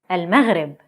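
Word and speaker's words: المغرب: Al-Maghrib, Morocco.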